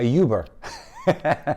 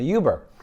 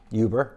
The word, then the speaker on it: Uber: take get ready for for a Yuber which is how she pronounces it and so I said what she goes no I can go in in a uber order me a uber